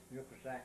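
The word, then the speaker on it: Yokosuka: I was flying with the Admiral to uh yuska no yeah was that yusa yusak yeah it's spelled yusak but it's pronounced yusa yeah Naval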